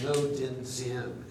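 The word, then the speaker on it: Ngo Dinh Diem: Sometimes the G is silent, as in No Din Siem, N-G-O, no.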